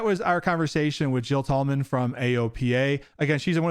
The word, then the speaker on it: Tallman: I said your last name wrong. I said Tillman, not Tallman. All right, everybody. That was our conversation with Jill Tallman from AOPA.